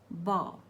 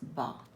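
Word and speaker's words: bough: But if we take this example, bow, B-O-U-G-H, again the last letters are O-U-G-H, but it is pronounced as bow.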